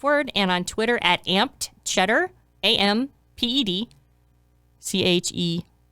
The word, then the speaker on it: Amped Cheddar: And follow us on social media at Finance is the Other F Word, and on Twitter at Amped Cheddar, AMPED CHEDDAR. It's amped cheddar, if you want it pronounced in the proper way.